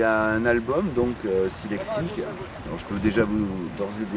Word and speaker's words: Silexique: Ça s'écrit le chiffre 6 et L-E-X-I-C. Voilà. Je le dis parce que c'est quand même un peu pénible à retenir. Mais du coup, comme ça, vous le répétez, Silexique, c'est pas évident à prononcer, les gens le répètent, et